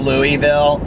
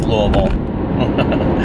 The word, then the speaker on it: Louisville: it a thunder and it's not Louisville its Louisville which I learned because I it's like